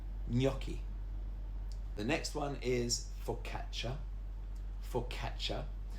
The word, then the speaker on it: focaccia: The next one is focaccia. Focaccia. Now, the double C is a ch sound, just like when you say cappuccino.